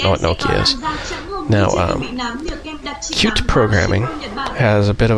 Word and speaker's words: Qt: covering it's called cute it's spelled qt but it's pronounced cute and when you search